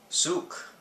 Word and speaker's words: Soguk: a brand new product it's called Suk that is how it's pronounced this is basically an